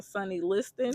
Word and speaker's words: Sonny Liston: He knocked down Sonny Liston.